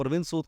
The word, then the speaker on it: Arviend Sud: तो बेसिकली हम क्या करते हैं, नेम के स्पेलिंग जब चेंज करते हो तो उसकी साउंड नहीं चेंज करते, साउंड वही रहेगी। साउंड वही रहेगा। आप अरविंद सूद को ARVIEND पढ़िए तो भी अरविंद है, ARVIEND प्रोनाउंस कीजिए तो भी अरविंद है, SOOD बोलिए तो भी सूद है, SUD करेंगे तो भी सूद है।